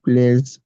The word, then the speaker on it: plaisent: The ENT Okay, is silent. yeah, yes, it's silent. We like these shoes a lot. Ces chaussures nous plaisent beaucoup.